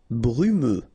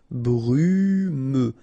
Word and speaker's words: brumeux: Brumeux. Okay, final X not pronounced, so you get this E and then U. Brumeux.